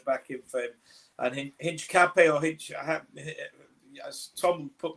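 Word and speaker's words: Hincapié: You know, you don't pronounce the H.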